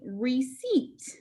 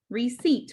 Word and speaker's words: receipt: right it's called a receipt receipt when you see this card say receipt e the word receipt helps us remember the e sound spelled with digraph e i receipt e our